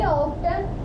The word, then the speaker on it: often: He often Often wrote T in is silent there.